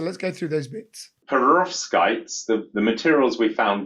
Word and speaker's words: perovskites: research team so I'm going to try and pronounce this perovskites is that right roughly that's correct perovskites yeah okay tell us about this so in